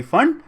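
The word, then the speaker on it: Pfund: देखो फंड होना चाहिए 5 पे एंड, स्पेलिंग P और FUND, फंड, P साइलेंट है।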